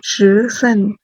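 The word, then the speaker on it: 十四: 13 को क्या बोलेंगे, श सन, और 14 को क्या बोलेंगे, श सु, श सु।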